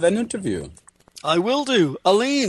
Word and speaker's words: Allyn: It is Allyn, like a man.